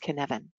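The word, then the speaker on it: cynefin: it would be pronounced in ofin but it's actually a Welsh word that is pronounced kin Evan and the reason I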